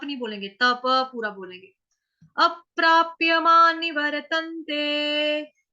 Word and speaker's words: अप्राप्य: अप्राप्यमानि वर्तन्ते, अप, अ के साथ आधा प, उसके बाद है प्राप्य, प्रकार वाला, प्रभाव वाला, उसके बाद है प्र के साथ आ की मात्रा, प्रा, उसके बाद आधा प, प्राप्य, अप्राप्य, अप्राप्य, प्य, ठीक।